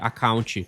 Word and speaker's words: account: I have a Facebook account. That's spot on grammatically. Now, watch the H in Facebook, sharp, like biting an apple. And count in account should rhyme with mount, not count ant.